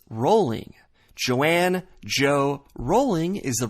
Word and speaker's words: Rowling: The author responsible for all this source material has a last name that is commonly mispronounced as Rowling, but I'm here to confirm that it's Rowling.